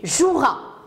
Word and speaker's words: joueras: l'écrire nous avons aussi tu joueras tu joueras il ya le e on ne l'entend pas il distribuera le 2